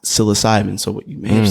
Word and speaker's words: psilocybin: saying like he even like so it's it's pronounced psilocybin so what you may have seen you may